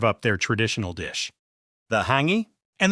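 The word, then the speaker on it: hāngī: their traditional dish, the Hangi. And the way you pronounce this Maori word sounds super close to the word hungry. It feels like destiny. Honestly, it's pretty funny. Hangi It's actually a type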